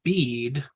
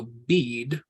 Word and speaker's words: bead: We're not going to try to find an equivalent for that A because that A is silent in that word in English. So bead, we're going to use that hirik and a dalet.